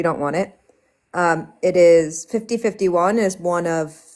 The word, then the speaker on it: 50501: It's 5051.